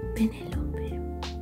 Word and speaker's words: Penelope: Her name is Penelope. Spanish pronunciation, Penelope. But we all call her Loli.